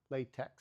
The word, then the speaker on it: LaTeX: LaTeX, L-A-T-E-C. T-E-X, sorry, T-E-X, LaTeX. We pronounce it LaTeX.